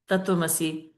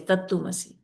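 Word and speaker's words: तत्त्वमसि: Now, what kind of supreme soul is this who can't even pronounce Tattvamasi and is pronouncing it wrongly as Tattumasi?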